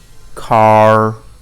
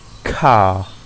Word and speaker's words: car: Some people pronounce the R at the end like far, car, but in received pronunciation it's far, car.